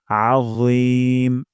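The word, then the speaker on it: عظيم: মোটা করে উচ্চারণ করব আজিম আ গলার মাঝখান থেকে এবং মোটা করে যেন না হয় সুবহানা রাব্বিয়াল আজিম সুবহানা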